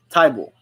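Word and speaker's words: Thybulle: fan nice you pronounced let me see you pronounce it Matisse a tie ball okay tie ball gotcha uh Allen TV says go Hawks your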